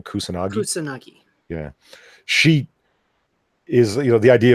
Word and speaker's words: Kusanagi: Kusanagi.